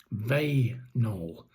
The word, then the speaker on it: Vaynol: How do you how do you pronounce it? What did you say?" Vol.